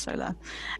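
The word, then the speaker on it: saola: it's um sorry solar it's pronounced solar um it's otherwise known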